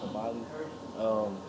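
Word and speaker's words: Kambili: And one quote that I found which is on page 131, is taught Kambali. I think that's her name. That's how you say it, Kambali.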